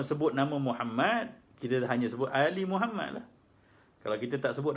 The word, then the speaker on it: Muhammad: Mohammad Fadli Fadli Muhammad Muhammad Muhammad itu Pulau ini memperhatikan ejaan Muhammad dengan double m Gan maka sebutlah ketika shalat seperti rukun selesai ya